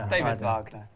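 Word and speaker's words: David Wagner: How do you pronounce it? David V. David Vagner.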